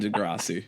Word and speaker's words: Degrassi: Well, as non-Canadians, you know, sorry, we couldn't get on Degrassi. That's how you pronounce it.